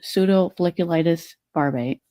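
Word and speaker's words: pseudofolliculitis barbae: A lot of Black people who have facial hair suffer from a condition called pseudofolliculitis barbate.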